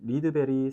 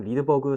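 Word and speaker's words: Rydberg: 참고로 식에 들어있는 2.178 곱하기 10의 마이너스 18승이라고 하는 이 값은 리드베리 상수라고 합니다. 뭐 종종 리드버그 상수라고도 하고 리드베리라고 발음을 하기도 하는데요.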